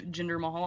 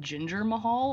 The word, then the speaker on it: Jinder Mahal: But speaking of Jinder Mahal, I don't think I've ever been able to say his name correctly. It's always been Ginger Mahal or Dinner Mahal.